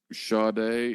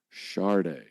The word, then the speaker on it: Sade: of her records is sha day and in parentheses it's like pronounced and it's actually Shard there's an R sound in there I say Shard but